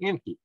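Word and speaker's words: Encke: shared parent with Enki. There's a lot of people thought Enki. And no, this is not spelled like the Anunnaki Enki, okay? This is E-N-C-K-E, not E-N-K-I. But it's pronounced the same.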